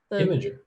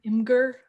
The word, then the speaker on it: Imgur: I didn't know that you pronounced it that way. I've always read it, but Imgur? I know a lot of people do Imgur. You know, I've never pronounced it before. Well, now you know. I truly found out it was Imager after like years of messing with it.